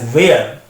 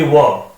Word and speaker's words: were: commit this mistake कि they pronounce this word as where. So remember, the correct pronunciation of this word is not where, it should be were.